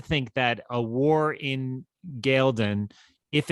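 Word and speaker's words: Ghealdan: It's the war in Galdon? Galdon, I believe, is the way they have pronounced that on the television show. I had always said Gildon, but I think it's Galdon. Galdon.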